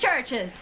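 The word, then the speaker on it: CHVRCHES: Churches is how it's pronounced.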